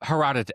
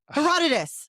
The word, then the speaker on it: Herodotus: Herodotus. Nope. No. Herodot. Uh Herodotus.